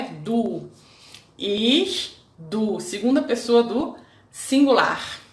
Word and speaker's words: ich: Ich, primeira pessoa, ich. Sorriam para dizer ich. Muitas pessoas às vezes ficam um pouquinho tensas, mas é só sorrir.